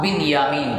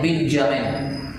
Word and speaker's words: بنیامین: بھائی تھے ان کا نام بنیامین تھا، جس کو آج کل جو یورپ کے رہنے والے یا عیسائی مذہب کے لوگ ہیں وہ نام رکھتے ہیں تو بولتے ہیں بنجامن. جس کا آج کل تلفظ اور پروننسیشن یہ ہوتا ہے۔ تو دونوں ایک